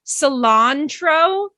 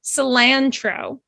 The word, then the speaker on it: cilantro: One thing to know about the word cilantro, there's actually two different ways to pronounce it. You can pronounce it cilantro and you can pronounce it cilantro. Okay, it's kind of different regions. Some regions say cilantro, some regions say cilantro. It's completely acceptable in both ways. It's kind of considered like an accent.